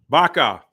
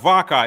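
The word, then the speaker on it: vaca: that is a uh Baka Baka Baka not vakka it's spelled vakka but it is pronounced Baka remember in Spanish the v's are pronounced with a B in modern Hebrew they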